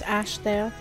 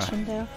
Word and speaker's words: Ashdale: Also, I feel the need to say this, but it's Ashdale, not Ashendale. It's Ashendale.